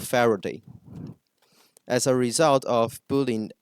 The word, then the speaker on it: Faraday: at school due to a speech issue that caused him to mispronounce the r uh he often said his name as Fa Day and instead of Faraday as a result of